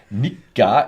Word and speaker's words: Nikka: learned about the pronunciation Nika is the long K Nik what was it